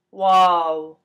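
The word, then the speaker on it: واو: this is our w it's pronounced wow like wow wow so whoa is a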